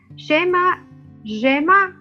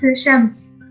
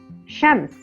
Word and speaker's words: Chams: Okay, Shaima, I hope I'm not mispronouncing your name. Shaima, are you here? It's Chams. Chams.